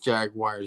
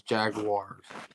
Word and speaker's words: Jaguars: did I mispronounce the Jaguars? You said Jaguars. It's Jaguars.